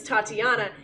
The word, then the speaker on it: Tatiana: So this is gonna be really funny because because my real name is Tatiana, and one of the actual NPCs in this is named Tatiana, pronounced the exact same way.